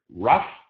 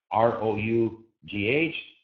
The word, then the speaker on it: rough: And so you have to associate the word rough, R-O-U-G-H, with though. You know, rough is associated with up sound. Though, spelled the same way, is associated with the O sound.